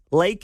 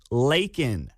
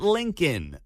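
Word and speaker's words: Laken: it's not Lincoln Joe it's not Lincoln Riley it's lak Riley say if you're gonna say her name at least say it right leak not Lincoln that's a college football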